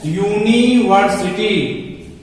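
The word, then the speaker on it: university: यूनिवर्सिटी, हमने यहां उच्चारण लिख दिया है यूनिवर्सिटी। यहां शुरुआत हो रही है य से। यह क्या है, यह की ध्वनि जो है वह व्यंजन ध्वनि है, कॉन्सोनेंट साउंड है।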